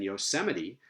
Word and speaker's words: Yosemite: It's only in unusual phonological patterns, like third to last stress, as in Yosemite, that the two proposals or the two generalizations are going to differ.